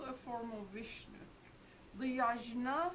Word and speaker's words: yajna: Another word in Sanskrit for it is yajna. Spelled with a G, not pronounced with a J.